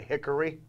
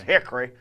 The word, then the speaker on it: Hickory: saying it right we don't pronounce we don't pronounce it Hickory yeah there's no oh is silent you know it's Hickory and you know and you gotta shake your